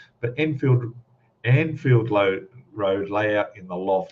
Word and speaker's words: Anfield: Lee from an anfield I have a problem pronouncing that word for some reason Enfield Road that's probably because there's a suburb here called Enfield and it in my head but anfield anfield load road layout